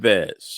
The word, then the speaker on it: Nieves: Nieves.